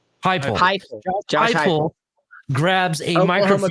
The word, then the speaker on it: Heupel: Shake Hupel? Heupel.